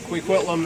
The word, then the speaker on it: Kwikwetlem: new year comes and uh yeah so it's quiquitlam is actually if we put Plum is is how it's pronounced the hunkaminum pronunciation and I just want